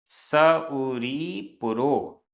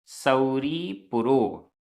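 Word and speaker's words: सउरीपुरो: दारावई और शौरीपुर के लिए स उरी पुरो स उरी पुरो उच्चारण पर भी ध्यान दीजिएगा उच्चारण गलत करेंगे तो मिस्टेक हो जाएगी सऊरी पुरो और 24वें तीर्थंकर भगवान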